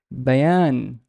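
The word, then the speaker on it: بيان: another letter uh and how would I pronounce it as Diane Bayan Bayan Bayan Bayan here means a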